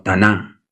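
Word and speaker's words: תנ״ך: hebrea o lo llamado Taná. Tená, taná se pronuncia así.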